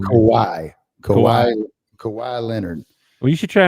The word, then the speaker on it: Kawhi: Kawhi Leonard.